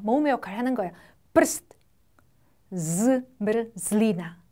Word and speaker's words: zmrzlina: 프스트, zmrzlina, zmrzlina, 아이스크림이라는 뜻인데 엄청 발음이 어렵죠?